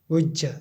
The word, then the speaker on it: गुह्य: जैसे य, जैसे गुह्य, गुह्य कहते हैं गुप्त को, तो गुज्ज, उसे गुज्ज जो है य, उसे य, गुज्ज, इस प्रकार से उसे उच्चारण किया जाता है।